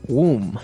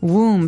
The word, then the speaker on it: womb: one when the teacher explained about a woman's womb womb so this might look like a very hard word to pronounce there's a b there so w m